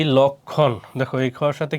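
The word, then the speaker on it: লক্ষ্মণ: সবগুলার কি উচ্চারণ হবে এরপর যুক্ত ব্যঞ্জনের সাথে সংযুক্ত মফলার উচ্চারণ হয় না যেমন কি লক্ষণ দেখো এই খর সাথে কি আছে এইযে ম সেজন্য কি মর উচ্চারণ হয় না আর লক্ষণ উচ্চারণ করতে গেলে এখানে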